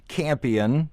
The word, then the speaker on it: Campion: Once again, Campion, it's spelled like champion, drop the H.